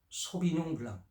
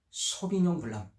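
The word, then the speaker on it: Sauvignon Blanc: 소비뇽 블랑 발음은 쇼비뇽 블랑이라고 하는데요. 원래는 프랑스식으로 소비뇽 블랑, 미국에서도 소비뇽 블랑 비슷합니다. 그래서 원래는 소비뇽 블랑 이렇게 하면 되겠습니다. 이런 맛 때문에 해산물이나 샐러드랑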